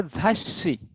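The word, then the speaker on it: ざっし: तो इसका pronunciation होगा झाशी. Got it? झाशी. Like kitte. We have to pronounce the next letter of su double.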